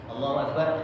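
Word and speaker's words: الله أكبر: dimaksud dengan itu kenjel itu pengucapannya Allohuakbar Allohuakbar satu nafas jadi tidak dua kalimat yo yo tetep gitu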